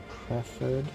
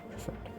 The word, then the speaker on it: preferred: Is there a preferred side? That is not how you pronounce it. Preferred.